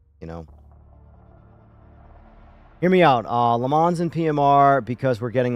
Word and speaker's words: Le Mans: Do you pronounce the N in Le Mans? Because obviously the right way to say it's Le Mans. But I don't know why when I say Le Mans, I feel like a fraud.